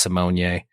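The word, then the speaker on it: Raven-Symoné: last name is actually pronounced Simone.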